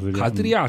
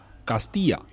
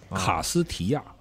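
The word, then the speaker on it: Castilla: 它其实这个翻译的不太对，其实西语发音叫卡斯蒂亚，卡斯提亚，所以你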